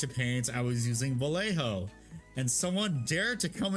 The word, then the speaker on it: Vallejo: I was using Vallejo. And someone dared to come into my stream and said, excuse me, it's pronounced Vallejo because they're in Spain.